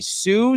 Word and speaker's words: Sioux: It's pronounced Sioux, Dan. I am so sorry. Sioux City, Iowa.